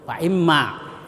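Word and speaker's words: فَإِمَّا: Faimma itu ada mim bertasdid. Mim bertasbdid itu disebut gunah. Jadi gunnaah itu artinya dengung. Jadi harus dibaca dengung.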